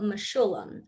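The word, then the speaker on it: Mechoulam: and look up the scientist of dr rafael mashulem and that is spelled m-e-c-h-o-u-l-a-m and no it's not the song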